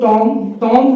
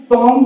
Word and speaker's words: tomb: इसको ज्यादातर लोग टॉन्ग बोलते हैं। एम के बाद हमने आपको बताया था साइलेंट लेटर में जो बी होती है वो साइलेंट रहती है, साइलेंट तो रहेगी, साथ में इसको टॉम भी ना बोल के हल्का सा घुमा देंगे, बोलेंगे टूम।